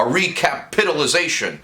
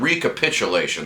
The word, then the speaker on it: recapitulation: A recapitilization. Recapation. Recapitulation. That's actually how you say it.